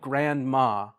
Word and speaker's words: grandma: words together so like for example grandma or grandma you like native speakers you don't really say the d you said grandma grandma and so as a